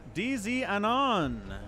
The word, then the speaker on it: Diznanon: DZ Anon, I think is how that name is pronounced.